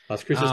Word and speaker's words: Las Cruces: Cruces New Mexico right did I pronounce that correctly Las Cruces New Mexico that's right that is like 10